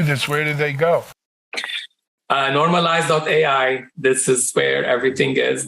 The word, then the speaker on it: Normalyze: And just for the audience, that's normalize. It's spelled NORMALYZE. It's normalize.ai, you said?